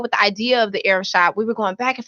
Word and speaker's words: Ariv: Rivers, and they are the founders of the Rev Shop. Arab Shop. God, I knew I was going to get it wrong. Goodness. You're fine. All right. It's called the Arab Shop, and it's spelled ARIV.